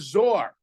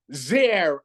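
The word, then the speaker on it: זֵר: So the Medrash says the word Zayin Reish is written as Zor, but it's pronounced Zer, a crown.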